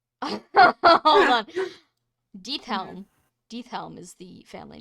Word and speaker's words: Diethelm: Deathelm. Deathelm is the family name. And that's spelled Diethelm.